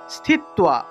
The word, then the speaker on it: স্থিত্বা: তাহলে নিরাহারাহ স্থিত্বা, স্থিত্বা। এখানে দেখুন তয়ের নিচে একটা বফলা আছে। যদি তয়ের নিচে বফলা থাকে তাহলে তুয়া উচ্চারণ হয়, তুয়া উচ্চারণ হবে। তাহলে স্থি ত্বা, স্থি ত্বা।